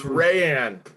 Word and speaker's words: Rayan: And I don't see any at the moment for you, Rayan, but if any It's Rayan.